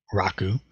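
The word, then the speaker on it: 楽: is the character and this is the Japanese pronunciation Joe Bliss Raku true self G and and we'll get back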